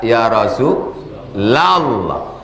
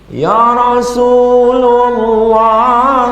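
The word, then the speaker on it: يا رسولَ الله: Asalnya Rasulullah. Tapi kalau masuk ya huruf nida ya rasulallah. Ya Rasulullah salamun alaik. Salah itu. Ya Rasulallah. Assalamualaika ya rasulallah.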